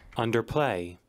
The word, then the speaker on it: underplay: Underplay. Underplay. Underplay. И, кстати, вот в американском варианте здесь двойное ударение, да? Underplay. Underplay. Underplay. А в британском варианте уже на второй слог ударение идет.